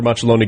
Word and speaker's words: Macelloni: Machiloni, good morning. Good morning and you have uh uh pronounced my name perfectly.